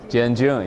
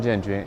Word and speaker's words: Jianjun: called or Jianjun, January, pronounced January and June, right? Helps. Jianjun, yes. Jianjun, or Jianjun, yeah.